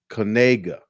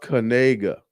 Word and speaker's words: Knigga: And when he interviewed the family, they said, hey, it's not pronounced like it looks.